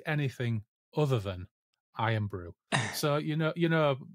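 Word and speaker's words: Irn-Bru: any concept of what iron Brew is no right iron Brew is Scotland's favorite soft drink it's spelled i n Bru iron brew and the adline back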